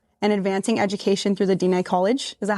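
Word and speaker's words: Diné College: Your father was instrumental in founding of the INF and advancing education through the Dina College. Is that how you pronounce it?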